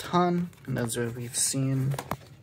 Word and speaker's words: Han: as i've mentioned before this letter is pronounced han and that's what we've